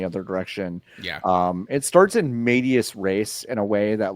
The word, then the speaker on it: in medias res: It's in medias res. It's no in medias way. res. The S is silent.